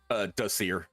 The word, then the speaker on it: Dacier: Dacier, am I saying that right? Close enough. I Tell say me how Dacier, you- but yeah. How do you say it? Dacier. Dacier? Okay, I can try that.